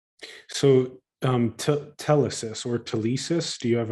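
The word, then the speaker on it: telesis: So um tellesis or tissis do you have a preferred pronunciation? I usually pronounce it tellesis.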